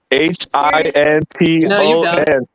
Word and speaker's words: Hinton: I'm saying that name wrong. H I N T O N.